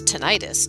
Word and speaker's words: tinnitus: tinitus commonly pronounced as tenius is the perception of